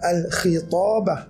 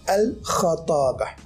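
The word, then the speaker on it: الخطابة: Innal khatabata, al-khatabah cara bacanya ialah al-kha, membaris fathahkan huruf kha. Ramai yang baca al-khitabah dengan baris bawah. Yang betul dan sebenarnya ialah berbaris fathah, al-khatabah.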